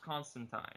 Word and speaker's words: Constantine: Oh, it's with um Zatana, Constantine, Swamp Thing. It's actually pronounced Constantine.